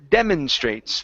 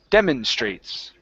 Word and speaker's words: demonstrates: we have the word demonstrates the stress is at the very beginning give me a good R Straits demonstrates demonstrates okay one more